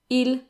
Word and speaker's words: ils: Now, they end in an S, as you can see, but the S is silent, so they're pronounced the same as il and elles in the singular.